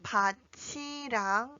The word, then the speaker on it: 밭이랑: When you read the first one, it is pronounced as . And when you read the second one, it is pronounced as .